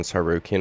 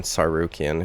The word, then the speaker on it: Tsarukyan: going to fight Arman Tsarukyan, whose name has a silent T in it.